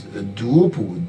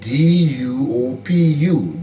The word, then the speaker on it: Duopu: We also have another Bai Bala, that's B-A-I, and the last name is spelled G-B-A-L-A, by Bala. We also had another individual called Moses Duopu, D-U-O-P-U, Duopu.